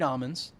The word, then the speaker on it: almonds: The taste is bold, dry, and delicate with notes of candied almonds. Almonds. Very rich. Almonds. It's not almond brothers. Almonds. Almonds. Almonds. The L doesn't exist in the northeast.